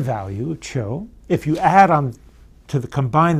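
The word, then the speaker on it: 求: Contemporary version of this would be on the right, top right, pronounced cho. It means, in modern Chinese, it means to seek, no particular relationship to a fur pelt. But the sound value, cho, if you add on combine that with another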